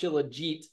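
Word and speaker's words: shilajit: and most of these chillit products that I've and I've learned that it's pronounced chillet um at least how they pronounce it in in the Himalayas where it comes from but and is Himalayan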